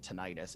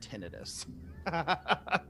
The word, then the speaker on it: tinnitus: she was just like, "I hate that everyone calls it tinnitus. It is pronounced tinnitus." But everyone pronounces it tinnitus, so it's probably one